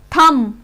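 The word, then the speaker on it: thumb: अगर M के बाद B लास्ट लेटर है तो हम उसको प्रोनाउंस B को साइलेंट बोलेंगे। टॉम, COMB, कॉम, लैम, थम, लिम और हनी कॉम, हनी कॉम। इसलिए हनी कॉम नहीं बोलेंगे, हनी कॉम, क्योंकि जो B है वो M के बाद लास्ट लेटर है, इसमें L के बाद M।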